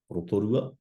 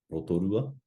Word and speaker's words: Rotorua: How would you pronounce the following? So first we have rotorua, rotorua, whakatāne, whakatāne, and taranaki, taranaki.